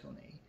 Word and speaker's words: Kone: is the rocket uh koni i believe it's pronounced coney air i'm sorry xp air